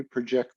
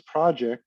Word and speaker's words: project: word by its pronunciation, where its project is one word and project is another, but it's exactly the same word.